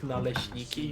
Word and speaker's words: naleśniki: unless you can pronounce the word naleśniki, you are disavowed from Poland.